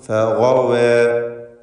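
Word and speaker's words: فَغَوَىٰ: ഗൈനിന് മാത്രം ഈ പദത്തിലും തഫ്ഖീം നൽകണം. ഫഗവ.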